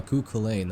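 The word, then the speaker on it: Cú Chulainn: Ah, cuain.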